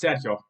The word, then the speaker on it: Sergio: Sergio but if um if you were to pronounce my name in Spanish it's saido I don't know how